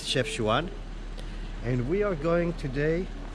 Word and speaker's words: Chefchaouen: It's Chefchaouen and We are going today Up there it's